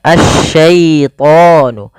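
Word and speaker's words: الشَّيْطَانُ: bertemu dengan huruf ya jangan sampai ini dibaca dengan ee bacaan memantul misalnya nah gitu ya Atau dia tidak boleh memantul Diya syait itu mantul harusnya asyaitonu asyaitonu n Kemudian pada lafal tho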